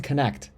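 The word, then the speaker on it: Knecht: unbelievable this season Dalton I figured out how to say his last name dton connect it's actually what you can say the well that's what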